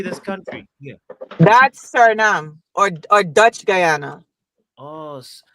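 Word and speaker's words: Suriname: That's Sernam or or Dutch Guyana.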